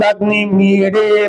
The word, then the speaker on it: अग्निमीळे: मैं पहले पढ़ता हूँ, उसके बाद मैं आप सभी से उच्चारण करवाता हूँ। ओम अग्निमीडे पुरोहितम यज्ञस्य देववृत्तिजम् होतारम रत्नधातमम्।